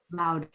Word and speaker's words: Laude: Do you pronounce Laude? How do you pronounce her name? Laude? Or is it Laud? Loud.